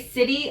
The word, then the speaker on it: city: to say uh city we say city almost with a d sound cid city city that's like